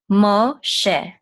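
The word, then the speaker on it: משה: And we're going to say sh. So this is mo, sh. And this is a sigol, and it's going to say e, and this hey will be silent. So she, mo, she, Moshe.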